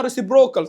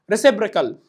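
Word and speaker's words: reciprocal: لك سعادتك هات الريسيبريكال في بعض الطلاب بتقراها ريسبروكال طبعا غلط مش عارف ريسبوركال طبعا غلط انطق معايا ريسيبريكال يلا ريسيبريكال تمام تاني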